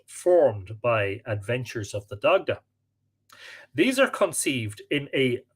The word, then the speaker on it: Dagda: He spells Dagda D-A-G-D-A-E here. Sometimes there's an E added to the end. I'll just pronounce it Dagda rather than Dagday.